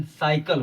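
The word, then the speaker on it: cycle: जैसे देखिए C के साथ ये Y आ गया है तो फिर इसका उच्चारण साइकिल हुआ है।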